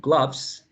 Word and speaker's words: gloves: have the transcription of the word gloves with a wedge. So I need to buy a pair of gloves, or I lost one of my gloves. So remember that is as in up, up, up, cut, glove, glove.